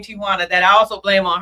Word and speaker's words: Tijuana: It's really pronounced Tijuana. Tijuana if if if you're if you're from the Spanish culture, but Americans say Tijana.